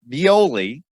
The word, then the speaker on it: Violi: Armand Violi. Probably butchered the last name.